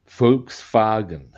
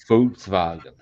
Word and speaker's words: Volkswagen: And they don't their W's they pronounce as V's.